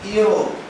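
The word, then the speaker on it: Europe: लेकिन इसको हम पढ़ते कैसे हैं, यूरोप। अब देखें आप कि ये वॉवेल है, लेकिन पढ़ कैसे रहे हैं, ये कॉन्सोनेंट से।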